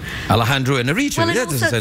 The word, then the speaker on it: Alejandro Iñárritu: I always try and pronounce it like, you know, I feel terrible saying... I'm not exactly sure whether I get the pronunciation right every time, but it's Alejandro Iñárritu.